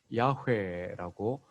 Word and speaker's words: 야훼: 6823회 6800번 이상 언급되어진 여호와 야훼라고 발음되기도 합니다.